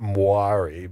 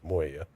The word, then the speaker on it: Moya: in their own right except for Moya, I guess, is how you pronounce it. Even though I tried it before, I always called it Muari, but it's like no, it's Moya.